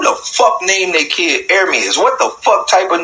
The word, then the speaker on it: Ermias: So I start asking myself, who the fuck named their kid Ermias?